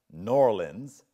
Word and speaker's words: New Orleans: in New Orleans and I was told that I needed to pronounce that noir lens and she's back there